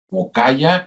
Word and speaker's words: Mocaya: Sí, se escribe con con y en lugar de W L. Mokaya, m O c a y al mokaya.